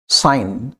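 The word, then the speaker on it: sign: है जैसे वर्ड हमारा साइम हस्ताक्षर करना साइन जी साइलेंट over here okay next word is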